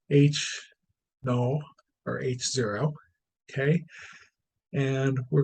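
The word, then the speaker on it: H₀: competing hypotheses okay we have h o that's pronounced h no or h0 okay and we're gonna that usually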